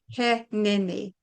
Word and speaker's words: Heneini: Well, when I first came across this term, I kept going, "Hi, Nini.